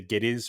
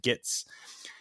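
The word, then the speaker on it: Gittes: they were filming like he wouldn't say his name right he couldn't say G is right so he kept saying gits and eventually they just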